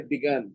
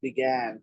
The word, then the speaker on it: began: And don't say begun, it's began, G-A.